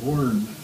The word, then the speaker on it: Warren: lived later and uh she pronounced his name waren so what did you